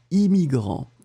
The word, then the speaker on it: immigrant: Le deuxième, eh bien c'est I, immigrant. Le double N, on ne le prononce pas vraiment.